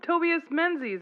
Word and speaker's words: Tobias Menzies: Oh, Tobias Menzies, I think is how you say it.